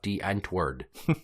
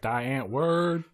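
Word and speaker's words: Die Antwoord: know D anward you should probably look up Dent word d i e a n t w o o r d except they pronounce it D ENT word CU they're from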